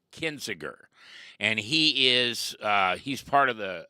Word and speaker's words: Kinzinger: Well, Adam, help me pronounce his name. Kinzinger. Kinzinger.